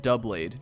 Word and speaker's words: Doublade: I pronounce it Doublade, just like double blade.